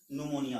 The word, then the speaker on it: Pneumonia: के अनुसार क्या करेंगे इसको न्यूमोनिया और ए साइलेंट है यहां इसको क्या पढेंगे न्यूमोनिया होगा अब यह जो होता